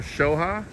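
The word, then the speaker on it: Xel-Há: blue it is blue so this is pronounced zoha or shoha shha shha that makes sense solo Personnel staff only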